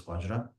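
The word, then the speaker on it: वज्र: Because the Tibetans usually mispronounce it as Benza. So in general, what I usually do, and what I've seen His Holiness also do is, of course, I think the Sanskrit proper rendition is Vajra, but the lineage that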